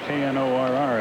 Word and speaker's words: Knorr: Knorr is how he pronounces it.